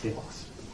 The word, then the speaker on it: telos: So I call it telos. Pronounce it however you like.